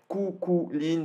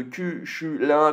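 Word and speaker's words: Cú Chulainn: Il a regardé la prononciation donc qui se dirait Kukulin de Kushulin, puis Kufurin, Kushurin au final en japonais.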